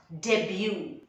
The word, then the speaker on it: debut: in this movie debut remember the t is silent and you stretch the last part debut and i got a